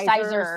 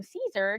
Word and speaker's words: Siser: sizer or something, because it starts with an SISER. And we're both like, oh. So that's how you say that? We still kept thinking that like they were mispronouncing it until the gal from Caesar came on and said, "We're so excited to have you."